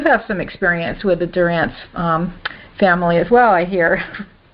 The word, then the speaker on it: Dorrance: and Halina you have some experience with the Durant family as well I hear and yes and we caught we see it's Doren okay we that's how we pronounce it in California and talk differently than